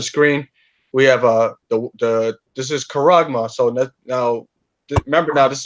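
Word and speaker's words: χάραγμα: in the Greek, and charagma. That's it right there. Let me see if Isa will say it for you. There you go. That's the pronunciation. Charagma.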